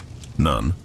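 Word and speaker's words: nones: Nun pronounced noon referred to the ninth prayer of the day around midafter afternoon.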